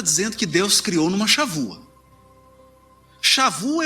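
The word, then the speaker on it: שבוע: Está um B aqui, porque em hebraico B, dependendo da posição dele na palavra, ele tem som de V. Então você escreve B, mas aqui pronuncia V. Shavua. O que é a Shavua?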